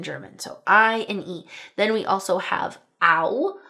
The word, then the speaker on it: Au: Then we also have 'au' (ow) Right. So 'au' says 'ow'; that's also literally how they say 'Au!' as in 'ouch'.